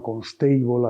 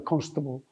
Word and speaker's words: Constable: Uno es John Constable, que la gente, porque ha ido a Academia de Inglés, le llama Constable aquí, pero que no se pronuncia así, que en inglés se pronuncia Constable, que es un pintor